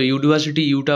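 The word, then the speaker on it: university: এই ইউনিভার্সিটি এটি একটি বিশ্ববিদ্যালয়, তো ইউনিভার্সিটি ইউটা ভাওয়েল থাকলেও এখানে ইউর উচ্চারণ ইউর মতো হচ্ছে, অ বা আয়ের মতো হচ্ছে না, তাই এখানে এ হবে।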